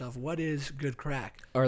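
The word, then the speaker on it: craic: explained to me that crack which is spelt c-r-a-i-c crack it's a crake is an expression that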